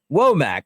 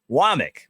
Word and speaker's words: Wommack: that came from South Alabama it looks like wac but it's pronounced wck wck and now it is Maurice linquist they